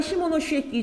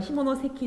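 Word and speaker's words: 下関: 랴동반도와 타이완의 한양을 규정하게 되었다면 요거는 시모노시에키 조약이죠. 정확히 말하면 시모노세키 조약이 맞는 발음이고요.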